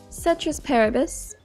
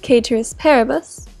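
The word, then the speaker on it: ceteris paribus: we assume citrus peribus citrus peribus more correctly pronounced caters peribus is a direct translation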